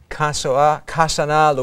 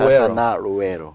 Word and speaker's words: Kasana Luwero: I'm going to have you pronounce it, Bishop, so I don't mess it up. Kasana Luwero. Kasana Luwero. Kasana Luwero.